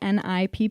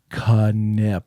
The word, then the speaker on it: Knipp: people Kip is k n i p p you do pronounce the k love many people would say nip I I I did for months until ni Nick said Kip like really slow to